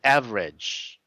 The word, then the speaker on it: average: a tail sound so you just have to meet the tail sound so you say average average average no G so average average yes